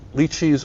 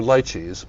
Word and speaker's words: lychees: And so the classic aromas for Gewürztraminer are roses, and I get roses here, and you can either pronounce it lychees or lychees, but lychees as well, and that's here in spades.